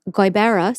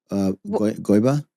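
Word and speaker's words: Gqeberha: So listen to how it's spelled. G-Q. Yeah, no. E. What is it, Irish? B-E-R-A-H. G-Q. E-R. E-B-E. E-B-E-R-R-R-H-A. R-H-A. And I looked it up and practiced, and I wrote it phonetically. G-U-Y-B-A-R-E-H-U-H. Guibera.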